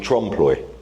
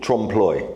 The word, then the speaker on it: trompe-l'oeil: And she specialises in this sort of work, and this is called trompe-l'oeil. What's it called? Trompe-l'oeil. Okay. The French pronounce it different, and it's called the